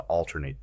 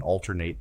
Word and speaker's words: alternate: Because of the fast pace, it was necessary to alternate the two athletes. Adjective. Because of the fast pace, the two athletes performed in alternate 10-minute periods.